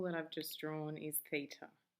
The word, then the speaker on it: theta: that little symbol that I've just drawn is Theta it's called feet I it's a Greek letter pronounced theta other Greek letters that we use